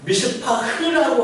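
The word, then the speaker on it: מִשְׂפָּח: 미슈파트라는 정의를 원하셨는데 이스라엘 백성이 맺은 것은 푸악이라고 하는 미슈파흐라고 하는 들포도를 맺었다는 겁니다. 이게 지금 발음을 보면 정의와 포악이 우리나라는 전혀 다른 말이지만 히브리어는 그야말로 굉장히 유사한 말입니다.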